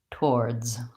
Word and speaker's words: towards: room sound yeah so to build that word I would probably start with or and then I would try war and then war toward towards you may find it